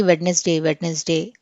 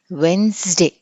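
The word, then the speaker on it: Wednesday: Okay, చిన్నప్పటి నుంచి మనకి వెడ్నెస్డే అని చెప్పి నేర్పించారు, కానీ ఇట్ ఈస్ నాట్ వెడ్నెస్డే, ఇట్ ఈస్ వెన్స్డే. సో డి అనేది మనము అసలు వినిపించకూడదు.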